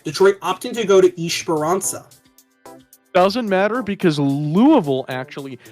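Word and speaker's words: Esperança: That's why it's Esperanza, not Esperanca, or it's Eichenwalde, not Eichenwald. There you go.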